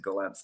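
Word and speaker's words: Gollancz: Um or you can go direct to my publishers at Golants.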